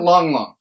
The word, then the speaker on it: Lang Lang: this stuff it's about the spell lang lang but you pronounce it long long hahaha but nevertheless dude